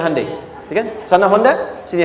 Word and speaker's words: Hyundai: bikin Honda sini Hyundai Hyundai kan dibacanya hundai ya kan sana Honda